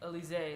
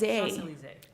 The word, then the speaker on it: Elysee: but Rika Elise or Elsie? Like Elise, like Elise. Elise.